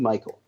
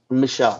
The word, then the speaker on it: Michel: the Patriots running back Sony Michael show Michelle sorry I thought was Michael I'm pronouncing it as I read it my bad but